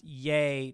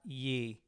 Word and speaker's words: Ye: correcting us he said it's pronounced yay not ye Oh yay yay I'm